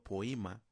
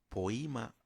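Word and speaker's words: ποίημα: pronunciado poima o poima o poima que proviene del verbo griego poín, hacer o crear y significa literalmente una cosa hecha o creación.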